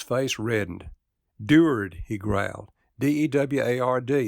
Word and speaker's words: Deward: reddened endured he growled d-e-w-a-r-d is pronounced deward then as the thought